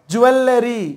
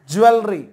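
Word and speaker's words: jewellery: Okay, next பாருங்க, ஜுவல்லரி இப்படி சொல்லுவோம் நாம, ஆக்சுவலி ஜுவல்லரி, ஜுவல்லரி.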